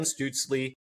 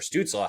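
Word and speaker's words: Stützle: Number one is Tim Stutesley or Stutsaw, however you want to pronounce it. I'm just gonna say it both ways. I'm saying first, one of the Zacks. I'm saying it both ways because I know people pronounce it differently.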